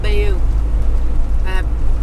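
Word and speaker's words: Bayeux: I think it's called Bayou. But that's how we spell it, so if you can find an air on there, that's fantastic.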